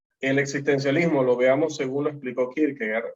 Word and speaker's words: Kierkegaard: Søren Kierkegaard vivió entre 1813 y 1855. Es danés, por lo tanto, pues su apellido no se pronuncia con pronunciación en inglés, por si se lo estaban preguntando.